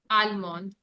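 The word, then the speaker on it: allemande: Almond.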